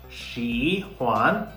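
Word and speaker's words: xǐhuan: placed above vels so therefore it's a third tone but in the second syllable there is no tone Mark above a okay so that's why it's the neutral tone so in this examples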